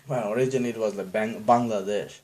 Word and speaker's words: Bangladesh: it's not like like Bangladesh that's the best example or Pakistan it's not Pakistan is Pakistan the real authentic bronze authentic pronunciation Bangladesh yeah we're demagognize it into Bangladesh and the whole world called the Bangladesh but it's